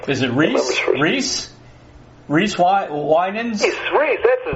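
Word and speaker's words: Wynans: Winans. How do you pronounce his last name? Yeah, Winans. Winan. That's what, because I knew it was not Wyman, is what I used to say, but it's Winan.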